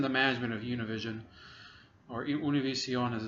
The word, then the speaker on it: Univision: I think he is in the management of Univision, or Univision as it's pronounced properly.